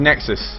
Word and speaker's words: Nexuiz: Yes, we weren't too sure how to actually pronounce it, but yes, apparently it's Nexuiz. I made a phone call today, and they were like, it's Nexuiz, but they stuck an I in it because I's are cool, right?